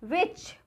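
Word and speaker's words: which: हमारा है साइलेंट फिर विच कौन सा ठीक है तो विच यहां पर भी देखिए ब्लू के आगे हा है तो ये साइलेंट है यहां पर भी ब्लू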